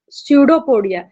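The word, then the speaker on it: pseudopodia: इसके अलावा यहाँ पर एक वर्ड आया है स्यूडोपोडिया। यहाँ पर जो पी है वो साइलेंट है।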